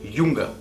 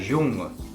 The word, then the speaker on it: Junge: La J es una letra que se pronuncia como una E en español. Como por ejemplo, jetzt, ahora. O Junge, el joven. O ja, el año. Das Jahr, el año. Der Junge, el joven.